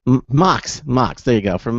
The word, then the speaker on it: MHOX: he is a partner and lead designer for M Hawks I keep pronounce m MOX MOX there you go from MOX MOX yes